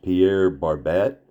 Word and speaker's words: Pierre Barbet: I think his name is pronounced Pierre Barbett.